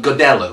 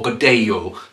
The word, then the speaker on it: Godello: this great head called godello or godayo depending on your pronunciation i've got two of